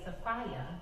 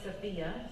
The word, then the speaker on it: Sophia: I am Sophia, which, by the way, Sophia is the most common mispronunciation, but it's okay, because I like that image of like, I got a lot of fire in my belly. But my name is Sophia, and I wear two hats.